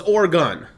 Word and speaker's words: Oregon: a gun or gun or gun so it's oregon okay but yeah i mean um as far